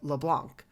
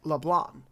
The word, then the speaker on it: Leblanc: it would sound like leblanc but if you pronounce it in french the c is silent so it is more like leblanc some other trivia for